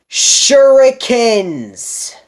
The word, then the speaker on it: shuriken: a fire kick move was even better it's pronounced shuriken this is a skyline you need to base